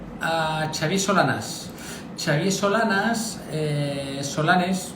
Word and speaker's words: Solanes: Xavier Solanas, Solanes, es catalán, se pronuncia Solanas, es ingeniero agrónomo.